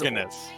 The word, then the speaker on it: Organist: So Organist says, I pronounce the accent of my name on the first syllable though, and I never knew that. So now I am well aware. So it is Organist.